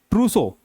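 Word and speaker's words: trousseau: अगला वर्ड है दुल्हन के कपड़े, गहने आदि सब कुछ जो होता है वो होता है ट्रूसो। इसको बोलते हैं ट्रूसो।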